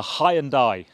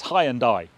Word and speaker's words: Hyundai: my British followers saying you're saying it wrong it's high and die well I'm ahead of the curve because Hyundai UK now have a press campaign going on social media telling us we've been saying it wrong for all of these years and it's not Hyundai it's Hyundai so I was ahead